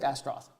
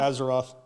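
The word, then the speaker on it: Astorath: you have here uh looks like astroth ASO say it properly not Azeroth Azeroth that gets that gets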